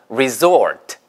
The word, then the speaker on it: resort: 근데 리조트라고 발음하지 마시고 예, 휴양지라는 말을 쓰시거나 혹은 영어의 정확한 발음을 쓰시면 되겠죠. 자, 그래서 resort예요. z 발음입니다.